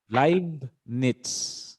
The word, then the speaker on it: Leibniz: cut gottfried wilhelm leibniz live knits so it's a german pronunciation live and this one is knits on t letter t